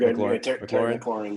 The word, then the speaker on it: McLaurin: You could say right now in Washington, McLaurin. Do I say his name right? I feel like I said. Yeah, you're good. McLaurin.